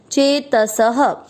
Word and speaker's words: चेतसः: चेत स में अ की मात्रा तो विसर्ग को पढ़ेंगे ह। चेत सह।